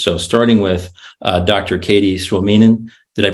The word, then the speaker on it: Suominen: Katie Suominen. Did I pronounce that right?